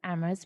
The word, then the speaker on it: Amherst: and um I mean dare I say we're Amos we're only H is silent so you know we